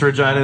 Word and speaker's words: Regina: in Regina like every band ever the toughest Regina is like what's up you know your city's name rhymes with fun right thank you thank you and